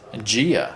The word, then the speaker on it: dia: So D's go J. T's go ch. Spanish the word for day is what? In Spanish. Yeah. Dia. Yeah. Dia. Mhm. Okay. In Portuguese, gia.